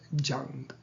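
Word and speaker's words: यं: And the bija mantra is jung, written with a Y, but it's pronounced jung. In Sanskrit, when a Y comes at the beginning of a word, it should be pronounced with a J sound.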